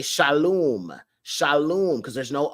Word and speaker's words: shalom: h l u m Shalom not shalawam because there's no W you feel what I'm saying I mean I don't attack people if they say shalawam but I just say it properly it's shalom matter of fact uh